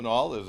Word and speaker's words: Nall: And also from Senator McCormick's office, Joe Nall, did I say it right?